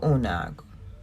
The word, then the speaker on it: Una: About Unag, or Una, that's how you say it.